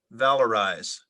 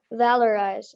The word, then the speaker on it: valorize: need one of them the word is valorize valorize it's a verb it means to determine or